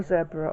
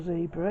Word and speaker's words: zebra: a zebra on, or zebra if you like to call it, pronounce it that way. I say zebra because I'm in the UK, and that's usually how we say it over here, so if anyone's saying